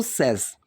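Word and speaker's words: says: अब ये एंड सेस में भी पहली बात तो ये सेज नहीं बोलते हैं इसको, हम बोलते हैं इसको सेस, ठीक है। जो प्रोनाउंसिएशन है वो होती है सेस।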